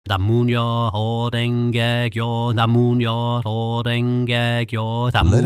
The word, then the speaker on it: Namu Myoho Renge Kyo: Namu Myoho Renge Kyo, Namu Myoho Renge Kyo, Namu Myoho Renge Kyo, Namu. Now, syllable by syllable. Namu, na-moo, myoho, myoho, renge, kyo, kyo.